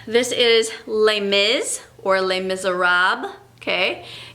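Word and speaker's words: Les Misérables: okay so um this is les miz or les miserables okay it's based on a book by a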